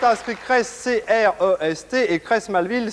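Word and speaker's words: Creys-Malville: J'ai marqué un instant d'hésitation parce que Colette a inscrit Crest, C-R-E-S-T, et Crest Malville, ça ne s'écrit pas comme ça, il y a une faute d'orthographe, ça s'écrit C-R-E-Y-2-S.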